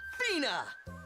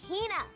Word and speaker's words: Hina: is my traveling companion, the esteemed archaeologist, Fina. You keep saying it wrong. It's Hina.